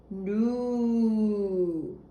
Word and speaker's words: nous: Then we have a word that rhymes with vous. And it's new. And that means we. Nous. Vous, nous. Vous, nous.